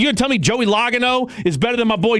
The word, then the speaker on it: Logano: Logano. I don't I don't I don't know racing to save my life, but I definitely know it's not pronounced logo.